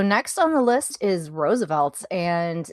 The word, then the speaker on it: RSVLTS: So next on the list is Roosevelt's, and it's spelled RSVLTS for our newer listeners.